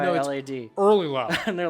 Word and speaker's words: EarlyLad: It's spelled EARLYLAD. No, Early Lad. And they're like, the fuck? It's not Early Lad, it's Early Lad. You have to say it with like a slur.